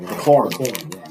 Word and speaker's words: McLaurin: I'm not good with pronouncing names either. No, McLaren.